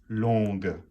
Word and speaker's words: longue: L-O-N-G, you do not pronounce the G unless it's the feminine, and then it's longue, d'accord?